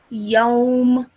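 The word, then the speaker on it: يوم: So it would read as yawm. Yawm. Well done. Okay, so the sound will stop at meme. Okay, so you will not pronounce the me. Okay, it will just be a m sound at the end.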